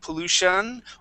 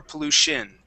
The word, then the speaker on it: pollution: uh here we go that Tio n okay that uh that uh TI is going to sound more like an sh okay and uh and we would usually either pronounce that ending like an un sound like pollution or pollution okay either one is either one is fine